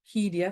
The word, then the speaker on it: Hiria: So with hiria, 3 syllables, I'd say tēnā koe hiria.